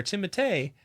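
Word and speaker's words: Timothée Chalamet: I saw a funny interview with him just the other day where somebody was like, it's Timothy, right? Or Timotei.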